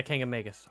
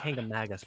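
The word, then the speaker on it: Kancamagus: them i love driving i always mispronounce the name of that highway kangamegus yeah king of magus i always want to say kingdom magnus but king of magus love driving that thing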